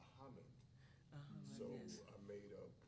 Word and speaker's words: Ahmed: So we were talking one day, and I saw the different spelling phonetically, and my name's not Ahmed, it's Ahmed.